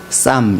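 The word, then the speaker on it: psalm: 시편을 우리는 싸움이라고 그럽니다 b salam 그것을 쌈 이라고 흠 4p 가 묵음 이라서 싸움입니다 그리고 찬송을 의미하는 무엇이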